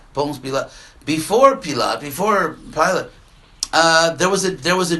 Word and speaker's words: Ponce Pilate: Ponce Pilate. Huh? Ponce Pilate. Ponce Pilate.